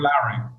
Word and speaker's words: Lowrey: And what that's where you will probably remember him because Neil Lowry.